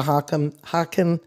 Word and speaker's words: Haken: Because I noticed there's different brands of theremins, and then we're going to get to the Haken, is that how you say it? Haken Continuum?